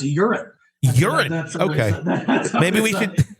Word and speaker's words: Joran: I think in his native Dutch dialect, his first name is pronounced Joran.